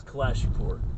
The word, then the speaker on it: Kalashipur: It's Kalashipur. So like you go in, you say your last name, it's like people know you. And, Say it like, again. Sorry. It's a Kalashi and then a Pur.